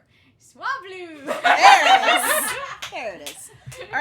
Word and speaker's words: Swablu: Sabalu? Swablu!